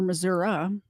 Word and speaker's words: Missouri: Middle School principal in Missouri or Missoura if you're from Missouri I think that's how you pronounce it will spend the rest